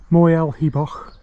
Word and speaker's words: Moel Hebog: And we're on Mulaghabeg. Going to be quite a trek this is. So, there it is, Mulaghabeg. It's actually Moyle A Bog is the correct pronunciation, isn't it?